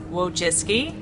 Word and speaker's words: Wojcicki: ever say my name but it's whoa jiske and it's polish and that's my name it's actually not that hard to say it just looks hard when you see the spelling Susan Webber jack is